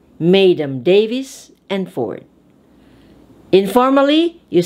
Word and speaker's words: mesdames: it in the past when it is a french word the terminal s is silent so mesdames read it madem madem davis and ford informally